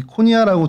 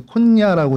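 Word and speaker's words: Konya: 키프로스 섬이 있고 그 위쪽에 터키 남부 지역에 여기 코니아라고 돼 있고 근데 콘야라고 이제 보통 이제 발음을 하고요.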